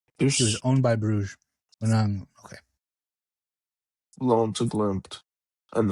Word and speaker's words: Brugge: pronounce Club Brugge because some people pronounce it Brugge, and I think that might be the right way. But I always still just say Bruges.